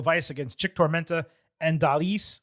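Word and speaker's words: Dalys: Moving to Stephanie Vaquer and Lola Vice against Chick Tormenta and Dalis, which is how you say her name. I got that wrong previously.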